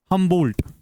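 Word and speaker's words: Humboldt: ये जो ये अप्रोच है ये दिया है Alexander von हमंबोल्ट हमंबोल्ट बी ओ एल डी टी हां डी साइलेंट एलेग्जेंडर वॉन हमंबोल्ट जो है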